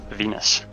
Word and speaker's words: Venus: Say it right, folks. Venus. Like the planet.